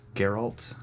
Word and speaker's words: Geralt: Is it Geralt or Gerald? I think it's a hard G. I think it's Geralt.